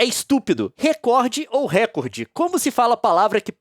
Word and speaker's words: recorde: oriente seus profissionais a pronunciar a palavra recorde como paroxítona, ou seja, recorde, com força na sílaba cor, recorde e pague indenização por danos morais coletivos.